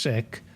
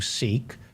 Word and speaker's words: Sikh: It's pronounced Sikh among the Punjabis. So but we'll call you Sikh for the American audience, that you were born